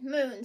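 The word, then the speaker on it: Mune: She has a little brother, and his name is Moon, spelled with a U. M-U-N-E is her little brother, Moon.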